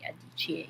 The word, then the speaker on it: Adichie: Yes, it's Chimamanda Ngozi Adichie, in case you're not too familiar with how to pronounce the name.